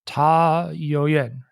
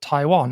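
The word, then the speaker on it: Tayouan: just read it in English it would be T Yo Yen but apparently um this indigenous place name they the indigenous people pronounced it Taiwan and that's uh from what we get the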